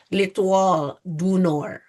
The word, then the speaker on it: L'Étoile du Nord: So I can tell you that it is hard to pronounce, but it is said like L'Étoile du Nord. So you don't say the D.